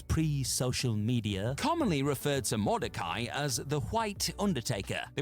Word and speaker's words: Mordecai: People on various wrestling message boards, pre-social media, commonly referred to Mordecai as the White Undertaker.